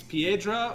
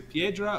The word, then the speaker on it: Piedra: yeah manuel uh uh it's either piedra or pedro it's p-i-e p-i-e d-r-a